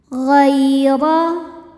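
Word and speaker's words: غَيْرَ: Ghaira. Huruf ra dibunyikan secara tafkhim karena huruf ra berbaris di atas yaitu fathah. Cara membacanya ditebalkan dengan cara mengangkat pangkal lidah.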